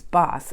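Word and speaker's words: Bath: a town called boss it's spelled bass but it's boss and it was founded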